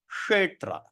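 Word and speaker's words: Kṣetra: So how are we going to pronounce Kshetra? Kshetra.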